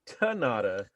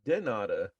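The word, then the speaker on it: de nada: And then one day, me and Joshua were talking back and forth, and I said gracias, and he said tanada, and I was like, wait a minute.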